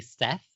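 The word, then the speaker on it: Szeth: I just say Seth because in Hungarian, which I do not speak, but I am a Proto-Hungarian, so it's like I know. Okay, all right. SZ is pronounced like S.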